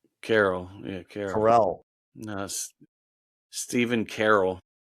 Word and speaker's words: Carell: Carell, and Farley.